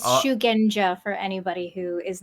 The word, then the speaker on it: Shugenja: think I I be all hard again it's shugenja for anybody who is not sure how to actually pronounce it uh zero is not enough for